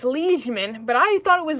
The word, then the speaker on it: liegeman: I've now figured out it's liegeman, but I thought it was liegeman. And that's spelled L-I-E-G.